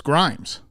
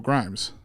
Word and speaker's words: Grhymes: So, and then I was like, oh, that's Grimes. So I'll just spell it Grhymes, Grimes.